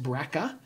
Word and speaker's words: BRCA: to the brca genes often pronounced breaka and so for example